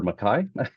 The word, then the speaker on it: McKay: It's pronounced both ways, but I prefer Mackay.